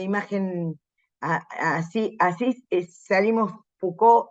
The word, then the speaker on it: Foucault: corta pero prolífica vida acuérdense que se dice foucault eh foucault como si la eh la ou se pronuncia u y la la cult esa es fuc como se dice Renault sí no s dice